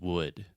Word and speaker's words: wood: like but it's just wood so this is the other u sound and it's just the uh sound like push should could look book wood Etc okay perfect okay